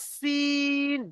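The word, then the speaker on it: سين: এটা পাতলা আওয়াজ সিন, যেমন গাড়ির সিটি মারলে যেমন হয় সিন, আর এটা মোটা আওয়াজ শিন, শিন।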